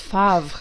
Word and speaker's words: Favre: But I read somewhere that someone said, you know, it's pronounced VSEPR, like Brett, like Brett Favre is pronounced Favre, which I thought was funny because it's Favre, folks. It's French.